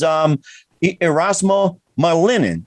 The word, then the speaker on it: Erasmo Malinin: too, and that is Erasmo Malinin. Did I get that right? Yes, you said it right.